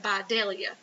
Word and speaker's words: Vidalia: You got to say it right, Vidalia onions, and cotton.